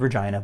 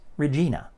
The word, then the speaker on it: Regina: saskatchewan is regina and it's called regina by pretty much anybody in canada but the phone pronounces it as regina minor mispronunciation difference or